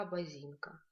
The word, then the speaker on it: Абазинка: Абазинка, Абазинка – это река Абазинка. Здесь звук К нам встречается. Звук К пишется как К палочка.